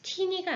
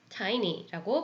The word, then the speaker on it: tiny: 그래서 teany가 아니라 tiny라고 발음이 되는 거예요.